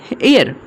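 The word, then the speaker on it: heir: जैसे यहाँ पे देखिए हेयर, यहाँ पे देखिए एच यहाँ पे साइलेंट है, ओके। यहाँ पे हेयर, इसे में हेयर नहीं पढ़ेंगे, ठीक है, हेयर नहीं पढ़ेंगे, इस पढ़ेंगे हेयर, हेयर, okay. N एयर, एन एयर, okay.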